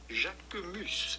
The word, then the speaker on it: Jacquemus: Jacomos. Jacomos. Of course, in French, the sound of the letter U is not U. Say it one more time. Jacomos.